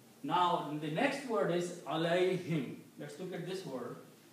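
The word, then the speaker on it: عليهم: To make it easy on the tongue, it is pronounced alayhim.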